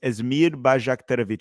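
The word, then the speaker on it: Esmir Bajraktarević: for the United States number 19 is bajik um the that's probably what everyone's asking it's asmir bakovic he's an 18-year-old Winger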